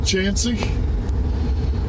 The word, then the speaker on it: Chauncey: on just SEC this little town is called chansy and uh it's known for his bootleg whiskey